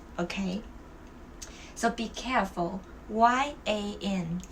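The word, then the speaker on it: 盐: Salt, it's yan. The sheep is yang. Well, without the G and with the G, the pronunciation change a lot. Okay, so be careful. Y-A-N, it's yin, which means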